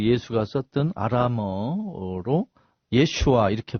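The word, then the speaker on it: ישוע: 그러면 예수 친구들과 가족들은 히브리어로 아마 또는 그 예수가 썼던 아람어로 예슈아 이렇게 발음했습니다.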